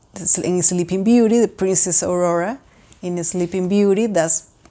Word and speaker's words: Aurora: it's a Prince's name in Spanish is pronounced Aurora so it's a little different but I think I